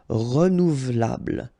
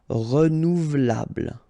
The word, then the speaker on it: renouvelable: But then this here is not really pronounced. So, renouvelable, renouvelable. Okay, it's a bit tricky, I know, but try your best. Renouvelable.